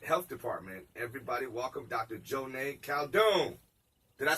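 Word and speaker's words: Joneigh Khaldun: Joneigh Caldoon.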